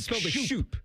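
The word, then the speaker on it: Schoop: Jonathan Scope spelled weird spelled like scope. Yeah, but it's scope.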